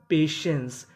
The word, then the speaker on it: पेशेंस: पी ए टी आई ई एन सी ई। इसे पढ़ेंगे पेशेंस। टी आई को यहां पे से पढ़ना है। तो मीनिंग बनी पेशेंस। पेशेंस का मतलब होता है धैर्य।